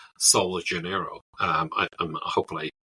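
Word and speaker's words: Sol de Janeiro: American Brazilian brand called sa Janeiro um I I'm hopefull I didn't butch the pronunciation because it it's it the J isn't soft in this case here um unlike normally in Portuguese and that business is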